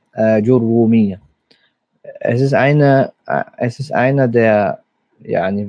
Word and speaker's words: Āǧurrūmīya: Ajurumiyya eigentlich, oft Ajurumiyya ausgesprochen. Aber das Ra hat ein Shadda. Ajurumiyya.